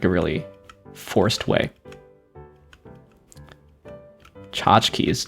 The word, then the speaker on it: tchotchkes: Tchotchkes. Tchotchkes is such a longer word than it seems, right? For 2 syllables. It's 10 letters.